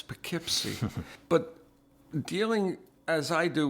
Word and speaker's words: Poughkeepsie: Phonetically, Poughkeepsie spelled in one of the Whaleman's Journal, P-A-K-I-P-S-Y. And I'm looking at it and saying, oh, that's Poughkeepsie.